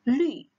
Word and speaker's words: 绿: Nah, 绿 ingat ini ada u, jadi dia bukan u, bukan lu, tapi 绿.